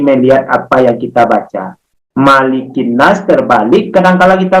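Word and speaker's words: مَلِكِ النَّاسِ: Yang betul bacanya bukan makilin nas, tetapi malikin nas.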